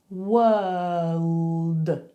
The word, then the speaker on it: world: So you have to go were, all, d. Split it up. Try those three sounds with me. You ready? Were, all, d. Were, all, d. If you feel confident with those three sounds, you can maybe start mushing them together. World, world.